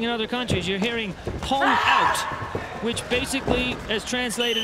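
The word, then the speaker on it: 홍: So he's not saying hong out. They pronounce it hong, H-O-N-G.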